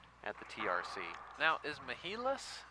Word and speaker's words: Mehilos: Between Mehilos, Jennifer Hinman, Dave Fink is actually going back up to the nosebleed section. They've got three layers here of seating at the TRC. Now, is Mehilos how we like to pronounce it, or Mehilos?